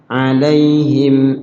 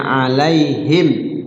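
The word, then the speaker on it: عليهم: jelas syafawi Dibi bibir cara bacanya alaihim enggak boleh alaihim enggak boleh samar mimnya jelas alaihim anu gitu alaihim Ayo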